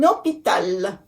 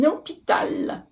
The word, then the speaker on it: hôpital: I know the word hôpital starts with H, but the H in French is silent.